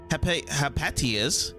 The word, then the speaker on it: Hypatia: Just as I expected, Hypatia's, I should actually pronounce it as that, Hypatia, heartfelt admiration for the mutants shows that one day this guy will be able to walk my path.